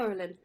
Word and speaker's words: Orlin: Orlin. That's it. That's how you say it.